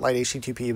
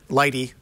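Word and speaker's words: lighttpd: it light HTT no it's not light HTTP but Lighty as it's called um instead of Apache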